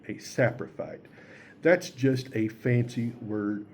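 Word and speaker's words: saprophyte: Saprophy is spelled s a p r o p h y t e. A sapriphite.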